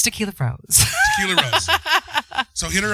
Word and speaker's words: Taquella Roze: Taquella Roze. Roze. Rose. Taquella Roze if you're nasty. But it's Tequila Rose.